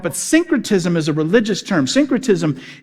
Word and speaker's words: syncretism: you're saying it wrong synchrotism like like like think like syncing things like syncing your your your your phone to your car or singing you're lining them up but syncretism is a religious term